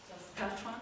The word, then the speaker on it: Saskatchewan: The emphasis goes on the catch part, so Saskatchewan. Saskatchewan?